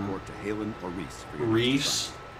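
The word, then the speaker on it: Rhys: I don't know how to pronounce Rise or Riss. Remember that. Now, like I call him report to Halen or Reese. Reese.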